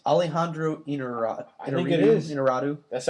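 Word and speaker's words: Iñárritu: Alejandro Inarritu, just a guy knows how to make a movie. Just Holy shit! Is that how his name's pronounced? Alejandro Inarritu.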